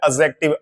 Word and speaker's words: adjective: इसमें डी और जे जे ये दोनों मिलकर जे साउंड बनाते हैं। डी इसमें साइलेंट रहता है, इसको बोलते हैं एडजेक्टिव।